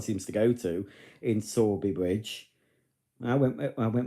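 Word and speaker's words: Sowerby: not live I say it's not pronounced sour bee it's sorby bridge but no I don't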